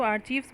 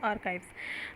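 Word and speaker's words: archives: कुछ लोग इसको आर्चीव्स बोलते हैं, वो रॉन्ग प्रोनाउंसिएशन होता है, तो ध्यान रखिएगा इसका जो प्रोनाउंसिएशन होता है वो आर्काइव्स।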